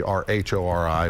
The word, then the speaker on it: Rhori: And mine is spelled, obviously, R-H-O-R-I, which I'm told is the Scottish spelling of the Irish name found in my family way back when.